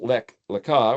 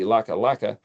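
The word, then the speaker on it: Lech Lecha: So, and it's lamed kaf, two words, and it's pronounced Lech Lekah, or it could be Laka Laka.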